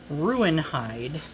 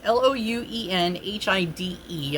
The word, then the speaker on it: Louenhide: So, I believe it's pronounced Ruinhide, if I'm saying that right. It's like, no, I'm already wrong. Lowenhide. So it's Louenhide.